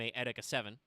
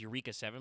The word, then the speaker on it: Eureka 7: to ask Chad if you remember the anime EA 7 uh you may think of it as Eureka 7 but that's not how it's pronounced at all uh but that had two